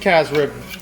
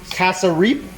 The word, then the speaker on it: cassareep: By the way, it's pronounced calf's rib, but it's actually cassareep.